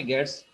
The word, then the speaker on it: gets: This is gets, not a gets. So uh, in written it's look like gets, but get s we will pronounce it as get s function, means get string function.